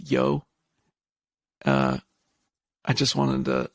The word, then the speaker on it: Hjo: the city is called it's spelled hjo it's pronounced yo uh I just wanted